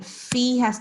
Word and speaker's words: فيها: So here, fi has to be elongated because look, there is ya after it. These are the harfilin. These are the vowels of the Arabic language where we must make sure that we are elongating.